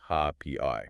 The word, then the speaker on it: rapé: We are unpacking a comprehensive text by Lauren and Liana called The Modern Shamanic Guide to Rapé, and that's spelled R-A-P-E with an accent, pronounced Ha-P-I.